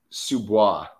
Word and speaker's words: sous-bois: Sous-bois. How do you spell that? I'm not it's on, you on your sheet there. Oh, okay, there we go. S-O-U-S-B-O-I-S. Oh, so it's spelled like sous vide.